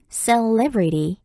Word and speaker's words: celebrity: C-E-L-E-B-R-I-T-Y, celebrity, celebrity, 이음절의 강세가 있는 단어예요.